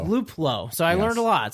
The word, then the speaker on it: Luplow: it and it's and it's luplow not luplow it's luplow so i learned a